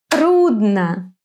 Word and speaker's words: трудно: In some words, the accent falls on the first syllable. Тата. Плохо. Скучно. Трудно. Быстро. Плохо. Скучно. Трудно.